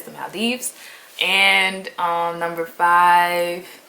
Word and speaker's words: Maldives: to go to the maldives that's how you pronounce it it's not the maldives it's the maldives and um number five it's kind of a